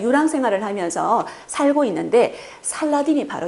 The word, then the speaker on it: 살라딘: 빨리빨리 하니까 살라딘이라는 발음이 되죠.